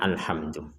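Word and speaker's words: الحمد: sama dengan bismillah tadi jangan sampai dipentalkan alhamdu jangan menjadi alhamdu sekali lagi jangan sampai dipentalkan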